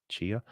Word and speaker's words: Tchia: It's spelled TCHIA, I believe. Chia.